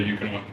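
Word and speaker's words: Ekuanot: I would say Equinot, but the Americans say Eukanot.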